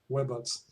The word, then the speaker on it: Webots: Actually, historically, the idea was to create a web of robot simulation connected on the internet. So it's more like Webots.